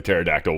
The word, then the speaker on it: pterodactyl: I especially like the pterodactyl one cuz it's got that P in there why can't you hear a terod pterodactyl P cu the p is silent that was pretty damn